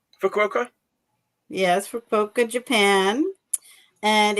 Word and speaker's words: Fukuoka: I'm gonna pronounce it wrong. Fukuoka. Fukuoka? Yes, Fukuoka, Japan.